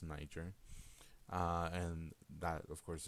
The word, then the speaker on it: Niger: lived around the Niger River that's how it's pronounced Niger uh and that of course is where other